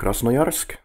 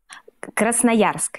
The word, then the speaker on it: Krasnoyarsk: thing then there is Raza mayorsk do I say it correctly at all Krasnoyarsk yeah Korea right you are Krasnoyarsk Krasnoyarsk yeah there's a